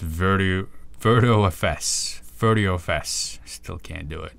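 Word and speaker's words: virtiofs: Stefan Hainosi says it's pronounced VirtuFS.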